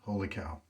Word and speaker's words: Holy Cow: Wholly, and then Kaw, and the correct pronunciation is Holy Cow. Got that from the maker himself.